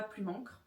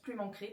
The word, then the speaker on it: Plume Ancrée: Donc ça se prononce pas plume ancre, ça se prononce plume ancrée parce qu'il y a deux e à la fin et c'est l'erreur que souvent font les gens sur mon pseudo.